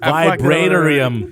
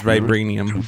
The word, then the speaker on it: Vibranium: Vibranium. It looks like you would say Vibranium, but it's Vibranium. There's no I.